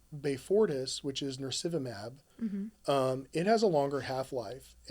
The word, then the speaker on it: Beyfortus: Beyfortus.